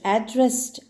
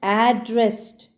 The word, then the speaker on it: addressed: addressed the audience no the pronunciation will vary depending upon the stress and intonation because it is a verb here in the earlier sentence